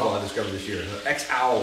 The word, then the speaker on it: EXAU: X-Owl is how you say it.